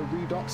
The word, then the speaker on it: Redux: I think it's called Redux. Redux. I still can't pronounce it. I actually thought it was French. I thought it was Redu. But it's not.